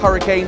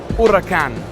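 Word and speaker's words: Huracán: about this number one it's not pronounced hurricane it's pronounced urakan now obviously you're going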